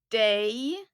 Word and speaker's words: dig: And here, pay special attention to the pronunciation because they're a bit different from the spelling. Mig, mig, dig, dig, honom, honom, henne, henne, den, det.